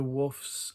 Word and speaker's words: Waugh: And amongst the books, they had this Sylvia Wharf's, I think it's Wharf or Wharf. It's not War. It's spelt the same as Evelyn Waugh, but it's not pronounced the same. That's my understanding.